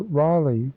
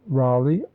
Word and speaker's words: Raleigh: he sometimes wrote it Raleigh capital r a l egh the last syllable probably pronounced l-y or l-a-y Raleigh Capital r-a-l-e-g-h appears